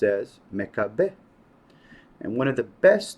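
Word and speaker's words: מכבי: It's pronounced as Mekabeh. And one of the best known explanations is that Maccabee or Mekabeh is an acronym.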